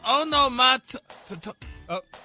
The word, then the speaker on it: onomatopoeia: So it's onomatopoeia. I know. I know. Yeah. Onomatopoeia. Okay, pull them all together. Onomatopoeia. Onomatopoeia. The the last syllable is just pronounced ah.